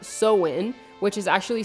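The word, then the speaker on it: Samhain: from a three-day ancient Pagan Celtic Festival called sew in which is actually spelled s-a-m-h-a-i-n but it's actually pronounced sewing this festival marked the end of summer and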